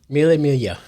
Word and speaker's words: Mille Miglia: There you go, you can pronounce that. Mille. Mille Miglia.